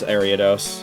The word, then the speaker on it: Ariados: That's how you pronounce Ariados, just without...